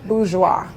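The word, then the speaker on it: Boudure: I'm a fan I'm a fan it's bis bis yes how do you spell it b o u d u r e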